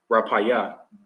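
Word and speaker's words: Rafah: know to uh conquer Rafa okay which really in the Hebrews pronounced rapay okay which is which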